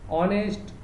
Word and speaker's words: honest: Then honest, honor, or air, for that H is silent.